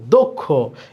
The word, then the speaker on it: দক্ষ: এটা আমরা বলি দক্ষ, কিন্তু আসলে কি দক্ষ না, এটা হচ্ছে দক্ষ। এই যে ক্ষীয় আছে, ক্ষীয় থাকলে এই দয়ের সাথে যে অ আছে, এই অয়ের উচ্চারণটা অয়ের মতো না হয়ে ও এর মতো হবে, এই জন্য এখানে দিতে হবে ওকার, দক্ষ।